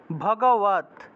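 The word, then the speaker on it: ভগবদ্: আছে শ্রীমত তারপরে ভগবত ভগ আর ব আছে যেহেতু ব এর উচ্চারণটা ও হিসাবে ভগবত ভগবত ভগবত উচ্চারণ হবে শ্রীমত ভগবত গীতা শ্রীমত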